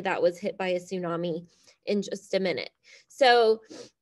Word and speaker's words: tsunami: rapid change called a tsunami so look at that word tsunami I know it starts with a T but the t is silent you pronounce it as tsunami a tsunami is a